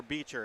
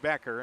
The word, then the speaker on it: Becker: I got to ask Patrick, is it Becker or Beecher? It's Becker, right? It is. Yep. So, they it looks like it would be pronounced Beecher with the CH, but it's pronounced Becker, and that's what I thought.